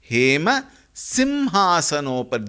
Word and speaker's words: हेमसिंहासनोपरि: That may be avoided because it is a regional language influence. Here it has to be chanted as Hema Simhasanopari. That ma has to be very clearly pronounced. Please keep this in mind.